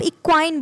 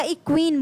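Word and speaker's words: equine: जैसी लग रही हो, उसको आप इक्वाइन बोल सकते हैं या इक्वीन बोल सकते हैं, प्रोनाउंस कर सकते हैं दोनों।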